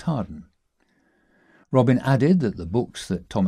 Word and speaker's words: Hawarden: His investigations suggested that Lucas's real name was Thomas Harden, surname spelt Howarden, but, as with the village near Dodleston, locally pronounced Harden.